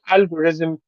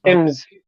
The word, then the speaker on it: algorithms: How do you say the plural of algorithm? Algorithm, algorithm, Can you say im? algorithms, Can you say ums? ims, Ums? ims, algorithm, Say ums. Just say ums.